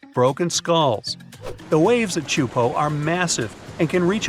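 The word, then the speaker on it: Teahupo'o: all the name itself is a mouthful is pronounced chupo and it means broken skulls in tahan yeah you heard that right broken skulls the waves at chupo are massive and can reach up to 23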